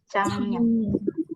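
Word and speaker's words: 작년: Bacanya Jangyeon. Nah, kalau Giok ketemu sama Nian, akan dibaca Jangyeon.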